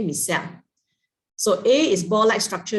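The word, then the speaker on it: micelle: it for you right or else you'll start to pronounce it michelle okay miseli or misali whatever so it's called miscell okay miss cell so a is ball-like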